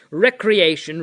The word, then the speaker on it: recreation: we have our Recreation that is the way to pronounce Recreation Recreation we go to our